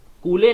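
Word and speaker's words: Cooley: कूले की एक बुक आई जिनका नाम था CH कूले, जिन्हें कि हम लोग कूली बोलते हैं, सही प्रोनाउंसिएशन इनका कूली है।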